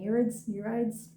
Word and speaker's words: Nereids: I believe they're pronounced the Nereids, correct me if I'm wrong, but they were Poseidon's daughters, I guess.